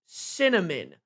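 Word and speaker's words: Synnamin: Honest to God, she named her Cinnamon. Pronounced Cinnamon. Uh sorry, for you guys listening to this, it's spelled s y n n a m i n.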